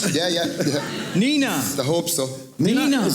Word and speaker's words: Nenagh: Nenagh. I hope so. Nenagh. Is that the right way to say it? Yeah, Nenagh, yeah.